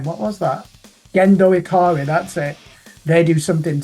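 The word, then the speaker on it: Gendo Ikari: Rock hopefully it'll be like that Scottish band Geno iari I can't pronounce their name what was that gendo iari that's it they do something similar go and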